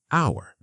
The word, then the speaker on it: hour: It starts with the letter h, but we don't pronounce the h. We say hour.